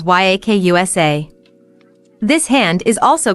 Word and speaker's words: Yakuza: The worst possible hand in the game is 893, which in Japanese is pronounced as Yakusa.